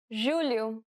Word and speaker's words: julho: The letters J and G can sometimes be pronounced like J. It sounds like the S in pleasure.